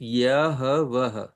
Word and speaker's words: Yahweh: And if you phonetically try to pronounce it, Yahweh.